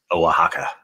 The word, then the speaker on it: Oaxaca: Oaxaca.